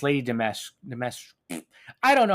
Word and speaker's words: Dimitrescu: No, well, you don't pronounce the SCU. The fuck? It's Lady Dimitrescu.